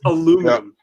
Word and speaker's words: aluminum: Aluminium is actually wrong from a historical standpoint. It is aluminum.